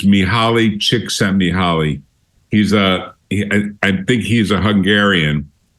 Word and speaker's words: Mihaly Csikszentmihalyi: He's got a very difficult name to pronounce. It's Mihaly Csikszentmihalyi.